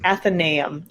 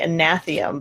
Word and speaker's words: Athenaeum: It's the Athenaeum. I always want to say Anatheum, but that's a totally different thing.